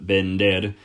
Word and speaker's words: vender: Just a very quick side note getting back to the verb vender. The letters V and B in Spanish make exactly the same sound. So vender is spelled V-E-N-D-R, not B-E-N-D-R.